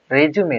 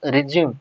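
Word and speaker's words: résumé: Okay, so this word pronounced as a resume, not resume. Okay, so resume or resume pronunciation are different and meaning also different. Okay, but spelling is same. Okay, so pronounce it as resume.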